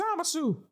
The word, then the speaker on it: Zamasu: My name's Zamasu. Zama what? Nigga, what the fuck? How you pronounce that shit?